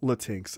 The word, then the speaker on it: Latinx: like like also also micah excuse me it's pronounced latinx i i think i know and it looks